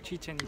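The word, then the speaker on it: Chichén Itzá: Chicos, les cuento que venir acá a la pirámide maya, Chichen Itza.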